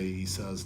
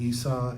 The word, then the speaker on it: Esau: And so I'm just going to tell you right now, I'm going to say Esau's name wrong during this lesson because whenever I come